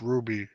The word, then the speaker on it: RWBY: Boy Watts says, I've been playing called RWBY, pronounced Ruby, Arrowfell.